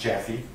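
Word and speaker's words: Jappe: touch with Detective Jaffe, that's J-A-P-P-E, but pronounced Jaffe. And Detective Jaffe worked in public corruption at LVMPD.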